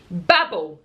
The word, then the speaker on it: Babel: Babel, this is pronounced, by R.F.